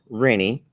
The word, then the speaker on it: Renie: to read that Lester my name is renie it rhymes with many I'm from Iowa City